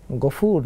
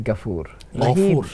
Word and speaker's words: গফুর: গফুর হবে। আরবি উচ্চারণে আকার না গফুরুর রাহিম হবে। গাফুরুর রাহিম যদি হয় এটা যথার্থ উচ্চারণটা হলো না। এজন্য গাফুরুর রাহিম। বাংলায় যে আকারটা সে আকারটা হবে না। এটা শুদ্ধ সুন্দর হবে না।